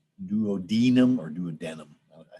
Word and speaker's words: duodenum: It's not douadinum. Some people pronounce it like that, but it's duodenum or duodenum.